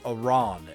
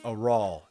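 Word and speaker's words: Aral: the main character's father I kept calling him Aon A R A an and I was talking to the person who recommended it to me and they're like I could tell you're a speed raater I'm like how do you know that I'm like because his name is actually AAL a r a l you got the last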